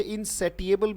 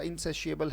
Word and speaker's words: insatiable: कुछ लोग इसे इनसेटिएबल भी पढ़ते हैं, ठीक है, पर उच्चारण इसका इनसेशिएबल है।